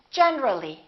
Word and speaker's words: generally: When we add the ly, we say generally. Generally, not generally. Let's look at a few more words where these strange disappearing syllables occur.